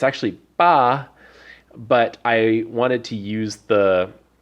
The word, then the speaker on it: 八: the left side there and we have the pronunciation it's actually BA but I wanted to use the the buh